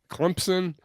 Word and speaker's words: Clemson: the p and then some people not in Clemson pronounce it with a z like Clemson yeah so another Clemson and I really and